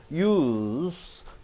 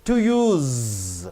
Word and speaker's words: use: Use, to use. Use as a noun, to use as a verb, you are stressing z.